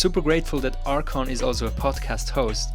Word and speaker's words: Archon: Archon, do I pronounce this right? Archon.